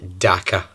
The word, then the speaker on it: Dhaka: It doesn't really rhyme with anything. It's called Dhaka.